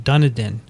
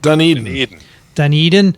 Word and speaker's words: Dunedin: university of otago in dunadan how do you say it dunedin i'm done eating yeah i'm done eating that's right donnie okay thank you